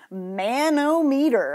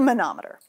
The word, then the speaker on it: manometer: Okay, it's not pronounced manometer. I've heard people pronounce it that way. It's a manometer.